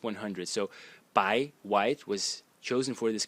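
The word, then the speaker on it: 白: And then the bottom element, let me change the color, which is this one, which is pronounced bai in the second tone, and it means white.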